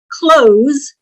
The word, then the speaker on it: close: Well, let me do close means to shut the door. Close means to be near.